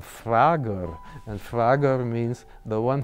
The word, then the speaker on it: Frager: His name, Frager, if you pronounce that in German, then you have Malcolm Frager, and Frager means the one who asks questions.